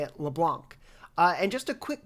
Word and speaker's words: Leblanc: it would sound like leblanc but if you pronounce it in french the c is silent so it is more like leblanc some other trivia for